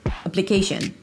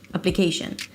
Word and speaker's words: application: par the t becomes a d party party third party application it's not application application the primary stress here is the k syllable application but you want to